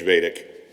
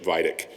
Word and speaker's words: Vaidik: to mention one other, Judge Vedic. That's because that's one of the few times I've pronounced Nancy's name correctly. Having introduced the entire judiciary from the speaker's rostrum more than 12 times, it was only in the 11th and 12th occasion when I believe I didn't call Judge Vedic Judge Vidic.